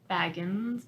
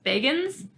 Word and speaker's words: Bagans: vegans I wanna yeah I said we said Baggins for so long and I was like we finally listened to him pronounce his own name it's like oh wait it was like wow this is better yeah would you want to